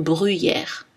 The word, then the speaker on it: bruyère: Deux exceptions notables sont le mot gruyère, qui se prononce en général avec un U plutôt, gruyère, tout comme bruyère.